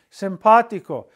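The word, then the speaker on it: simpático: really cool right here same thing simpatico look it's the third vow back according to the rules no third vow back should ever have an accent mark Or should be stressed but this is stressed and so it breaks the rule it gets the accent mark for breaking the rule and at the same time the accent mark is telling us to stress that vow when when we pronounce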